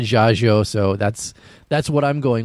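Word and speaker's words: Dziadzio: It's spelled D-Z-I-A-D-Z-I-O, and he said Jaggio, so that's what I'm going with.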